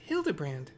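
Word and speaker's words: Hildibrand: It's pronounced Hildabbrand, which is funny for Nashu to be correct.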